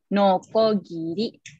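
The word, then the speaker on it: のこぎり: Giri ada huruf perkakas itu bacaannya nokogiri orang hiragana no huruf Hiragana ko huruf Hiragana yang ditambahkan tank-tank bacanya Jadi jika harus ada huruf b nya dibacanya nokogiri alatnya Seperti ini atau di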